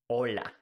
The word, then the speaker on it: hola: It's important to say that in Spanish, we don't pronounce the H. The H is mute.